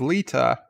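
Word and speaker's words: Lyta: The only character I know that to pronounce was Lita, because I know it was pronounced the same way as it's pronounced on Deep Space Nine, though it's spelt different.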